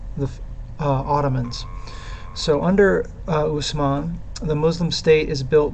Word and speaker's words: Osman: by the name of Usman o-s-m-a-n and people in the west because of a language issue called him uthman o t h m a n and they called his